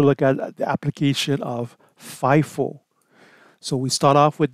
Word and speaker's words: FIFO: to utilize again the fifo life on average Marathon so let's take a look at that those methods in this case specifically the first and first out or the acronym is pronounced fifo and that means whatever